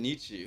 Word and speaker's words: Nietzsche: I know, it's just Nietzsche.